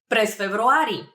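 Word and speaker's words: през февруари: so I would answer pres februari pres februari it's a very similar to February February uh just a little bit of a trick over there in pronunciation but that means in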